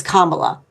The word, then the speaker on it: Kamala: States, at least show her enough respect to pronounce her name properly. It's Kamala.